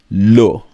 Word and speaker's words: le: And so if it is masculine, we will use the article lo.